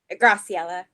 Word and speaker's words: Graciela: I believe it is Ashley O and Michelle and Graciela. Is that how I pronounce it? Yes, You- it's Graciela.